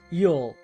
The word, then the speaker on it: ULL: The slow lane strategy is rooted in uncontrollable limited leverage, or ULL, pronounced YUL.